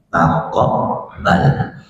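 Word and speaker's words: تقبّل: Taqabbal itu Bapak di Quran, taqabbal tulisannya bukan pakai kaf tapi pakai qaf. Jadi tulisannya pakai qaf, bacanya taqabbal.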